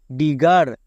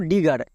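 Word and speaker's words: digger: এখানে দেখো ডি আই D double G মানে একটা জি ধরে নেব তাহলে জি এর জন্য গো ই আর এর জন্য আর মানে ডি প্লাস গো প্লাস আর ডিগার হচ্ছে তো তাহলে ডবল জি যদি দেখতে পাও তার জন্য চোখ বন্ধ করে গো ইউজ করে দিবা যেমন দেখো ডিগার এখানে জি এর পরে ই আছে মানে এখানে বর্গীয় হওয়ার কথা ছিল বাট হবে নাকি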